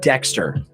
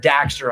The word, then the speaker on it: Daxter: 5 Sly Cooper and Jack and Dexter or Jackson Dexter is it Jack certainty it's jack I think it is knock it back Stern how do you say it oh it's jak and daxter I got it mixed up ok yeah jak and